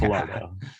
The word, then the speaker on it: Falardeau: Next up, I'd like to introduce Falardeau. Please correct my pronunciation. Start with that. And he's from Integrated Services Network, or ISN. Thanks, Tom. You were very close. It's Falardeau.